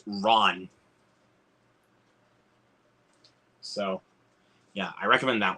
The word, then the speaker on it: Ran: it's technically pronounced as ran as it may look on the spine but it's actually pronounced Ron so yeah I recommend